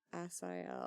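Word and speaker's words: Asael: Asiel.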